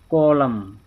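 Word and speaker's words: column: Letter N, अगरि एम खां पोइ एन हुजे त एन ख़ामोश थी वेंदो। डैम, अटम, कॉलम, हिते ना, हिते एन जेको आहे इहो हिते कोन पढ़णो आहे।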